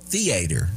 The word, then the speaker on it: theater: Today's movie theater day or as I call it theater. Okay. I like to emphasize the first syllable like your Kentucky relatives.